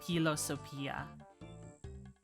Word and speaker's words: philosophia: what we're used to like philosophy isn't philosophy like how we say it it's like philosophia in Latin I wonder if learning